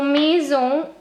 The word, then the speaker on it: maison: complete my sentence so maison is frozen french how is it written you know the m sound mu similar to the m in english a i in french has the sound a there are many combinations